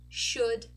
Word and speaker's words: should: it's an uh so could should would notice we are not pronouncing the letter O and we are not pronouncing the letter L okay next one we